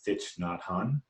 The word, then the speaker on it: Thich Nhat Hanh: And so one of my favorite authors is, I think I'm saying it right, Thich Nhat Hanh, Yep.